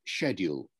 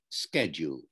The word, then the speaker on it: schedule: up in this country i say the word schedule meaning my timetable he says it schedule the american american to me yes the american pronunciation so when i'm talking